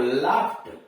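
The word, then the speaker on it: laughed: जैसे लाफ में ईडी जोड़ दिया तो क्या हुआ, लाफ्ट, लाफ के अंत में जीएच आया है और उसमें ईडी जोड़ा तो लाफ्ट हो गया।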